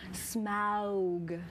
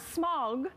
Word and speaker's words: Smaug: The desolation of Smaug. Did you say it like that? Smaug? Not smog. No, Smaug. Who says smog?